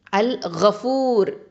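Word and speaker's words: الغفار: அல் கஃபூர், இது பாவங்களை மன்னிக்கக்கூடியவன், மறைக்கக்கூடியவன். அல் கஃபார், அதிகம் பாவங்களை மன்னிக்க மறைக்கக்கூடியவன். ஓகேவா? அல் கஃபூர், அல் கஃபார். இங்கே கைன்னு வந்திருக்குது, அதை கரெக்டாக உச்சரிக்கணும்.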